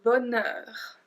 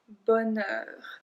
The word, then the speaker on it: bonheur: Then we have le bonheur. Le bonheur. I don't know why there's a H in that. I have no idea. We don't pronounce it, so just make sure